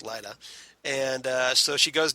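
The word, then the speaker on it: Lyta: where she calls out her daughter lita zod or light azad excuse me the way they pronounce it here's lida and uh so she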